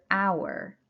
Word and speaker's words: hour: which W is or in which W is age not pronounced exactly the word our h o u you are that's an exception now go for part